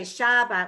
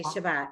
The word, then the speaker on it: Shabbat: Most of the time in Hebrew, the second syllable has the accent. Like we don't say shalom, we say shalom. Right, We don't say Shabbat, we say Shabbat.